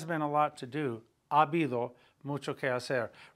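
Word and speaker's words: habido: a lot to do abido mucho remember the H is silent so you've got two A's there so it's basically a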